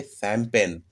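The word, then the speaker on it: champagne: और ठीक उसी प्रकार देखिए शैंपेन, एक प्रकार की जो शराब होती है, CH, यहाँ से शैंपेन, स का उच्चारण हो रहा है।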